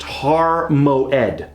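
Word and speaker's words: הר מועד: like a backwards apostrophe if we were to spell out our new Hebrew word this way MIM ayan dal --it it would be pronounced har mo Edie and that mountain actually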